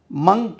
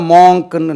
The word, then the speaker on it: monk: மங்க், இது கன்னியாஸ்திரி, நன், NUN, நன். மங்க், துறவி, மங்க். இது பார்த்தா மாங்க்னு நம்ம படிப்போம். மங்க், மங்க், நன்.